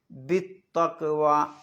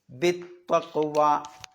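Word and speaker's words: بالتقوى: ഉച്ചരിക്കണം അമറ ഉച്ചരിക്കണം പിന്നെ ബിതക്വ അവിടെ ബി കഴിഞ്ഞിട്ട് അലിഫിന് ഉച്ചാരണമില്ല ലാമിന് ഉച്ചാരണമില്ല ബി ബി നീട്ടാനുള്ള ഇങ്ങനെ ഒരു അലിഫ് ഉണ്ടാവും അല്ലേ പിന്നെ ഒരു ലാം ഉണ്ടാകും അതൊന്നുമില്ല നേരെ ചാട പിന്നെ ഈ തായിലേക്ക് ബിതവ ബിതവ പിന്നെ അവിടെയും നേരത്തെ പറഞ്ഞപോലെതന്നെ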